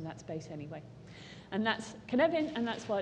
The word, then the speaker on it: Cynefin: It's pronounced like Kevin with an un, so now you'll remember, it's Cynefin.